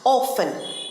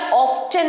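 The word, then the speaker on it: often: পরের ওয়ার্ডটা হচ্ছে প্রায় অফেন অফ অনেকেই এটা অফটেন বলে থাকে বিশেষ করে আমেরিকান প্রোনাউন্সিয়েশনে অফটেন বলা হয়ে থাকে কিন্তু এসব সঠিক উচ্চারণ অফটেন নয় অফেন অফেন T silent অফেন অফেন অফেন আই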